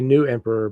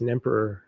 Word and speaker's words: Nemperor: I mean, you want to say New Emperor, but I think it's Nemperor Records.